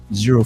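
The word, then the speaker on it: Xero: Zero for Hire is what his YouTube channel is called.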